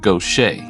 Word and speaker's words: Gautier: It looks like Gautier, but it's actually pronounced Gaucher, almost like you would have in Louisiana. And in Louisiana, they actually would say Gaucher, but it's actually Gaucher.